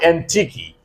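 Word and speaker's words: antiquey: A N T I Q U E Y. Antique. The pronunciation of this word is antique.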